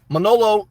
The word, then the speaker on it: Manolo: Manolo is how you say his name, like Scarface, but I call him Milano.